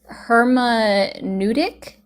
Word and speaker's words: hermeneutic: Oh, so it also so it's pronounced hermeneutic.